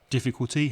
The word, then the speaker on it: difficulty: difficult is an adjective difficulty has four syllables and you stress the first syllable so the first syllable is stronger than the other three difficulty difficulty you can